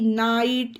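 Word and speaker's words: night: अब उसी तरह से एन आई जीएच टी नाइट इसमें भी जी एच साइलेंट है डायरेक्ट एन आई और टी का उच्चारण हो गया है नाइट मींस रात ए एल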